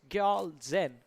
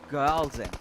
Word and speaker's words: Gyal Zen: And also have been recently informed we've been mispronouncing one of the players' name. It's Gyal Zen.